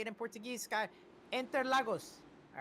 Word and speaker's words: Interlagos: Interlagos.